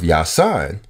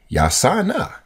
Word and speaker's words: Yosanna: So instead of Yasan, it was supposed to be, it's supposed to be, it is Yosanna, Yosanna.